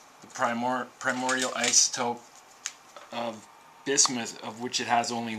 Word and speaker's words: bismuth: to discuss these crazy things and the proper pronunciation is bismuth bismuth yeah bismuth okay what can you tell